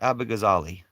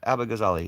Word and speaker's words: Abughazaleh: Well, check out Kat Abighazali. You don't support anybody? Kupu? Check out Kat Abighazali. It's spelled KatAbugazaleh.